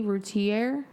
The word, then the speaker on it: Routier: So tonight's episode is going to be about Darley Routiere.